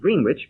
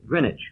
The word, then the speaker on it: Greenwich: name of the place it's spelled as if it were pronounced green witch but it's called Grenich yes AB so it